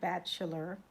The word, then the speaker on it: Batchelor: Okay, with Richard Batchelor. And it's spelled batch like a batch of cookies b a t c h a r e b a t c h a l o r Batchelor.